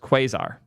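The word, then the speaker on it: Quasar: That model is pronounced quazar. You guys are the best. Thank you for correcting my inability to speak. The quaazar alpha model.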